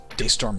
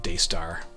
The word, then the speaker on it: DeStorm: met him I missed I mispronounced his name I called him Daystar he was greatly amused I don't know if you know that name DeStorm power use pretty cool